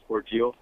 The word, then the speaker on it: Cordele: You mentioned Warner Robin, and the Cordell town is actually pronounced Cordele.